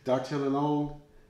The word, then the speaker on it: Dartigalongue: French, This is not an easy thing to pronounce, and I'm going to try it one more time to say it right. Dartigalongue is how I would spend my money, the XO or the Hors D'age.